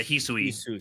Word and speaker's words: Hisui: Is that how it's pronounced? Yeah, Hisui. Just making Yeah, sure. I did Hisui.